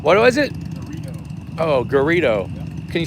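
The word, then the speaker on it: Garrido: Gorrito. What was it? Gorrito. Oh, Gerrio. Can you spell it?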